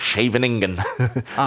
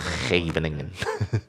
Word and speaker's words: Scheveningen: This is the, I can't pronounce it, Scheveningen system as black, where you just put pawns on the 6th rank, and you allow white onto you.